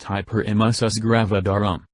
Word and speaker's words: hyperemesis gravidarum: infections can cause problems during pregnancy hyperemesis gravidarum pronounced hyperemesis gravidarum some women experience severe persistent nausea and vomiting